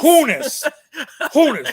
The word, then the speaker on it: Honus: Have you learned to pronounce his name yet? Honus, whatever. Hamas. Honus.